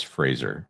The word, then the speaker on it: Fraser: It's not Fraser, it's Fraser.